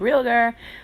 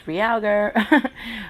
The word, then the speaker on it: Ryoga: with the color Ryoga some people pronounce it real there but it's Ryoga but I'm just buffing